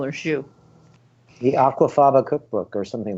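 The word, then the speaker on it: Zsu: And it's pronounced Shu. Shu.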